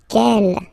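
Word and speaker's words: quel: S feminine plural and the good news is that you will pronounce them the same way alright so Kel Kel Kel and gel okay remember that in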